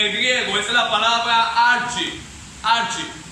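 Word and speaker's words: ἀρχή: La palabra dignidad en el griego es la palabra archi. Archi. Se escribe arche, pero se pronuncia archi.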